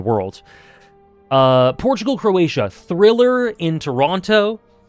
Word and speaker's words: Toronto: Portugal, Croatia, thriller in Toronto. Why'd I pronounce the T? Thriller in Toronto.